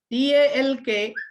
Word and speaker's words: talk: T-A-L-K, but pronunciation is talk. L is hidden.